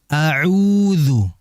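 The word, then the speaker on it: أَعُوذُ: hati-hati jangan terbalik ya Hamzah terlebih dahulu kemudian Ain audu audu Jangan semuanya menjadi Hamzah audu auudu tidak ya Sehingga dijelaskan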